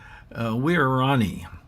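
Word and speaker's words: Waorani: I looked it up on the web on how to pronounce the name of that tribe, and I think it's Wirrani, if I remember right. Although the 3 different sites that I went to check on the pronunciation of that name all gave me different pronunciations. So much for that.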